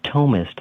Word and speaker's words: Thomist: It's called The Underground Thomist. That's spelled T-H because it comes from the word Thomas. Thomist, The Underground Thomist, and I blog there.